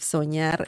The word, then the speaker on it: soñar: By the way, let me see if soñar is regular or irregular. Soñar, remember the ñ sound of this, the N that has a line on top? Soñar, ña, ñe, ñi, ño, ñu.